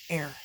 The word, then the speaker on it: heir: in here but it's spelled h-e-i-r air um and so air